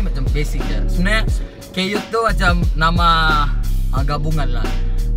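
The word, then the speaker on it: Kyut: Jadi K-Y-U-T, K-Yut, itu je lah. Dari situ lah dapat nama. So bukan cute-cute lah. bukan pasal cute. Oh, sebab pronounce yang betul dia Keyut lah. K-Yut. Dia Oke.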